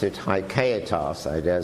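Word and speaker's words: haecceitas: I mean, the word in Latin is, as I pronounce it, haikaitas. I dare say it's pronounced a bit differently by Brazilians, but haikaitas, and Duns Scotus invented this word.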